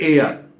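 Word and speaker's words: heir: एयर का मतलब, इसका प्रोनाउंसिएशन है एयर, ये इसका मतलब होता है उत्तराधिकारी, और ये 10 यहां पर रिजल्ट बता रहा है।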